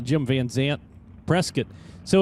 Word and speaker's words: Prescott: it's pronounced Prescott but it's not it's pronounced Prescott so Prescott Arizona The Mach 1 chassis